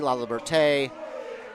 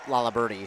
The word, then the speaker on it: Laliberte: Sam Lalibert, I've heard it many different ways. Lalibert, Laliberty, Laliberte. Well, the PA announcer said Laliberty, so that's what we're sticking with. Because usually they get the pronunciations from coaches well beforehand, so we'll stick with what they say.